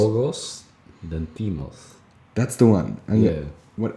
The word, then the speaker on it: Yorgos Lanthimos: Yorgos Lanthimos? Is that how you say it? How would you say? Yorgos Lanthimos.